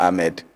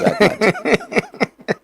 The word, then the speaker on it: Ahmad: The man was not Ahmed. He was Ahmad. That's an interesting one. Government offices are writing their former president's name as Ahmed. He was not Ahmed, he was Ahmad.